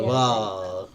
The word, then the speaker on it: Navarre: Told you I'm bad at pronouncing it. Navarre.